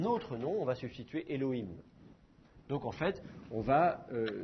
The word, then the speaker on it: Elohim: donc à ce moment-là là vous allez le prononcer Elohim Seigneur Elohim je dis Elohim est un nom